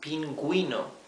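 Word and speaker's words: pingüino: and I okay pinguino and the U is not muted if we omit the the the diis the two dots this would be Pino right we would be not pronouncing the letter U but we do want to pronounce it we want to say pinguino so we add these two dots same for ento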